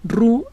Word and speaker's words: Roux: muy brillante pierre paul emile rubí se escribe roux roo es responsable por la